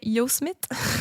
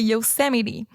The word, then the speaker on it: Yosemite: Et là, j'ai cherché la prononciation parce que moi, je disais Yosemite. Oui. Mais c'est Yosemite.